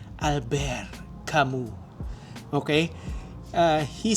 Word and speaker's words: Albert Camus: But he's French, so it's pronounced as Albert Kamu.